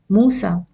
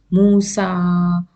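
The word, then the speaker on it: موسى: or ASA what happens we say Musa Isa we don't prolong it Musa or Isa we don't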